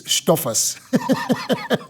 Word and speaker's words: Stoffers: Okay, and I will tell you it's Stoffers, German.